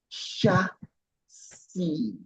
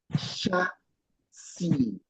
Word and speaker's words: chassis: You see the CH is giving us the pronunciation sh, like SH. It's not sounding ch, all right? So it's like sh. And you see this here, the S is not pronounced. So the word is chassis, chassis, chassis. So you hear people sometimes say new chassis. No, it's like chassis, chassis. That's the word.